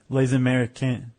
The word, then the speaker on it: Les Américains: Les Américains. It sounds very much like lazy American.